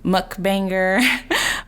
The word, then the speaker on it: Mukbang: is, do you face challenges as a Black mukbanger, or is it an advantage to you being a woman of color in this space?